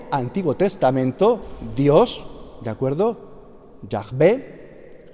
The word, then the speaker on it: Yahvé: Yahvé, Jehová, que diría un testigo que dicen Jehová por una traducción incorrecta, es un error decir Jehová, eso se dice para no pronunciar el nombre de Dios, que es un nombre sacro, ¿de acuerdo?